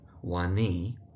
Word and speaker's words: Wani: So that's Aisha Wani. And the emphasis really on the knee part of the surname.